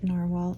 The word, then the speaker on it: Nahvalur: It's spelled Nahvalur, but it is pronounced Narwhal, and the model is Nautilus, if I can spell.